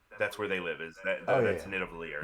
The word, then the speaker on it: Nidavellir: I'm gonna let you try to pronounce this one because I have no clue. No problem. Number 6 is Nidavellir. Sure. Nidavellir.